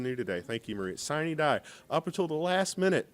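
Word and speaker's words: sine die: minute and right up until how do you pronounce it? Siny die. Siny die. I learned something new today. Thank you, Maria. Siny die. Up until the last minute, siny die.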